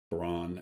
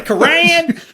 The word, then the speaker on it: Quran: like that you use the correct pronunciation of the Quan and and I said it like I was a redneck in the back oh what the Quran they reading from the